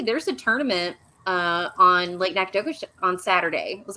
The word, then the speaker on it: Nacogdoches: That was Lake Nacogdoches, right?